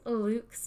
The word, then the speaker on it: LVX: in on the details why is lvx or lux this is the next question why is lv